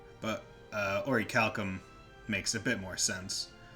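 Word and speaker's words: Orichalcum: game it's like oh so that's how it's pronounced because i always called it urikakum but uh oricalcum makes a bit more sense um so do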